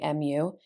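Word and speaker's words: μ: read it so for example how we would pronounce these symbols this is a mu right mu and then it displays what it is notice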